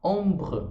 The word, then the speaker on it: ombre: Aqui é a mesma coisa, eu não falo E, mas eu falo R, que vem antes. Então é como se fosse uma sílaba só. Ombre, ombre, ombre.